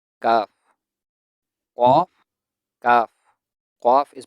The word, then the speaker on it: ك: Kaf has the same articulation point as qaf, but qaf is a thick sound and kaf is a thin sound.